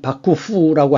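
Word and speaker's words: 幕府: 경우에는 막부 정권이 있었는데 일본 발음으로는 바쿠 후라고 하는데이 잦은 전투가 일어났기 때문에 아예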